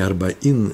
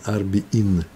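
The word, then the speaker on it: ארבעין: Не арбаин, а арбиин. О, интересно.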